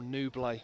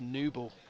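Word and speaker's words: Nouble: him from home I've been saying Joel nubla and it's new ball so this is the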